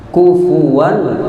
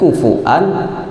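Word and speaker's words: كفوا: Kufuwan ahad, jangan sampai terbaca di qiraat lain kufuan ahad. Jadi bacanya jelas, riwayat kita Hafs yaitu kufuwan ahad, jelas-jelas di situ.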